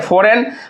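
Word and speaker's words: foreign: हुआ फॉरेन ठीक है फॉरेन हम लोग क्या पढ़ते हैं इसको फॉरेन तो देखिए फॉरेन तो यहां से हमारा क्या हो जाएगा जी साइलेंट हो जाएगा अब देखिए ये डिसिप्लिन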